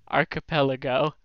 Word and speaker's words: archipelago: How do you pronounce it? Archipelago.